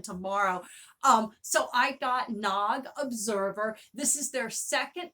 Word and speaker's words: Nag: it um a lot of people have been pronouncing it nag and i found out in 2017 from someone in the audience it's pronounced nog but i ended up getting this zine and